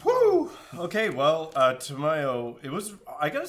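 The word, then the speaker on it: Tamiyo: hearing you pronounce Tamio. No, it's Tameo. It's My like a favorite- combination of tomato and mayonnaise.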